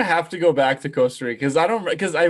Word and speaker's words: Costa Rica: on the pod but the pronunciation of costa rica they don't roll their r's yeah no they don't they don't no they have like the little gringo accent when they say costa rica costa rica oh man